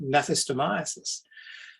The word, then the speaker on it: gnathostomiasis: rare parasite called gnathostomiasis, spelt with a G, the start of it, gnathostomiasis.